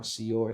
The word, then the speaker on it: CYOR: Um and C Y O R that's how Seior is pronounced.